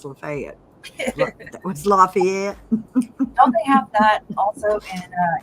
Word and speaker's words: Lafayette: laugh they call it lafayet County okay instead of Lafayette they call it lafayet County that's like you know you're in deep Mississippi when they can't pronounce lafette was LaFayette don't they have that